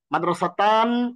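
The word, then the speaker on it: مدرستانِ: মাদ্রাসাতে, মাদ্রাসাতানি, মাদ্রাসাতান, উপরে কোনোটি নয়, মাদ্রাসাতানি। তার মানে নুন জের নি, নুন কাসরা নি।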